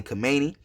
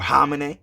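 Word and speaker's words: Khamenei: After the US Israel strikes that killed uh Supreme Leader Ali Kani or Hamina some people say, right? I think that might be the true way to uh pronounce it ham.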